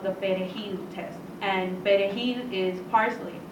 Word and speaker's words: perejil: we have a certain, when we say words like perejil, we roll our R's.